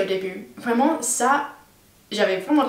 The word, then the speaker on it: début: Et il y avait d'autres choses, par exemple, il y a le son U, la différence entre OU et U. Genre le mot début, je disais toujours début. Aussi le mot montagne, j'ai prononcé montagne.